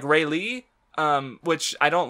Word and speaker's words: Rayleigh: kei sorry but then I was also mispronouncing railay a parents pronounced like more like Rayleigh which I don't like